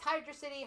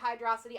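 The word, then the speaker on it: Hydrocity: But yeah, so Hydro City, I prefer, it's Hydro City, Hydrosity. I prefer Hydrosity. That's just me. I honestly don't care how you say it.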